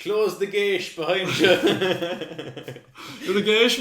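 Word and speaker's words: geis: I always pronounced it Gisa. For some reason, I don't know. No, I think the SE is an SH sound.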